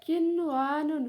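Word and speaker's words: قنوان: Bacanya kinwanun. Huruf nun sukunnya tetap dibaca jelas karena nun sukun bertemu dengan wawu dalam satu kata.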